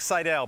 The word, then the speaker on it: Seidel: Mike, and if I said your last name wrong, go ahead and correct me. It's Mike Seidel, but that's okay.